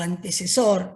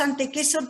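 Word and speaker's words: antecessor: Pero en el 800.000 aparece el Homo antequesor, o antecesor. Decimos antequesor porque ellos lo dicen en latín, y en latín la C se pronuncia como una K.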